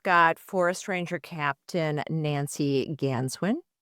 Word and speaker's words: Ganswindt: We've got Forest Ranger Captain Nancy Ganswin. The T is silent and forest ranger Chuck Cabrell.